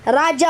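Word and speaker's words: Rajah: humabon you ra Raj ra Raj toas it's Raj it's Raj pronounced on February 39th 1565 Spanish and Mexican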